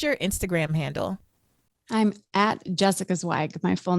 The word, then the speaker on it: Zweig: Instagram handle I'm Jessica zwag my full name j SS I ca ZW i g my last name is pronounced zag with a sharp eye yeah just my name